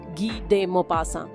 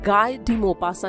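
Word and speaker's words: Guy de Maupassant: लगे वो इसलिए क्योंकि अक्सर लोग उनके नाम का गलत उच्चारण करते हैं। हिंदी भाषी लोग उन्हें गाय दीपासा के नाम से ज्यादा जानते हैं। लेकिन असल में फ्रेंच भाषा के उच्चारण के हिसाब से उनका नाम है गी डे मोपासा। मोपासा अपने समय के बहुत प्रसिद्ध राइटर रहे हैं।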